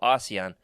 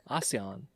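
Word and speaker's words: Oseon: the Flame Wind of Oion. That's two syllables. Lando Calisian, the Flame Wind of A. That's three syllables. Aion. Okay, I can see both.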